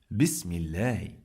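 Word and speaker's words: بسم الله: We pronounce lam 2 times. What does it mean? It means that we have shadda. When we have shadda on the top of any letter, we pronounce the letter 2 times.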